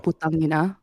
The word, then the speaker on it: putangina: putangina. But my Putangina. shortcut. Okay. Okay, someone said My putangina. shortcut- What's putangina mean? No. You pronounce the ang.